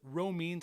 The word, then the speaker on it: Romines: I struggle with Romines, I believe is how it's pronounced.